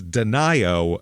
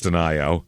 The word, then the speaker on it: Denio: is a weird place this is Deno Nevada this is uh d nio looks like Deno but of course really because it's smalltown murder it can't be pronounced that way it's Denio um this is in Northwestern